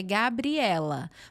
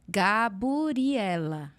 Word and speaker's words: Gabriela: eles vão ver então por exemplo meu nome é Gabriela mas eles não TM o bri então é gaburi ela entendeu ah então é por